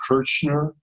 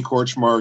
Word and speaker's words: Kortchmar: he played mostly rhythm and then there was another Danny Kirchner I think is how you say March mark